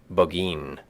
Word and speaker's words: Burgoyne: He pronounced it Boggeen, which my informant used to borrow.